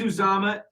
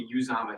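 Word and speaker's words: Uzomah: cj cj used uzama it is uzama but sometimes i get it wrong to use amma he's made it very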